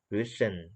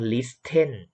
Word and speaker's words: listen: to Listen Listen อ่า ตรง นี้ ตัว ที เรา ไม่ ออก เสียง เนาะ โทษ ที ไม่ ออก เสียง เรา จะ ไม่ อ่าน ว่า written written ไม่ ออก เนาะ ตัว ที ไม่ ออก เสียง เอา ใหม่ เรา ไม่ ใช่ written และ เรา เป็น ลิตร ซึ่ง ลิตร ซึ่ง โอเค listened